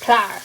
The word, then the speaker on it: Clower: Or Clower, I guess. We pronounce it just Clower.